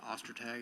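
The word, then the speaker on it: Ostertag: My name is Detective Ostag. That's spelled O S T E R T A G.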